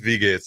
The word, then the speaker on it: Wie geht's: I don't know how to say it. It's like "Why geht's?" What is that? Wie geht's or Wie geht's? Wie geht's? It's W-I-E. Yeah, it's Wie geht's.